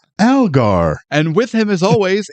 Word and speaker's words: Algar: Your last name's pronounced Algar, right?